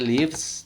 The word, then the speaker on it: lives: Y este lives, tú puedes exagerar esta B.